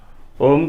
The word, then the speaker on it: ओम: मुंह में जय हो ओम का उच्चारण करते वक्त यह याद रखना है कि आधा ओम और लास्ट में मऊ आ ओम मतलब कि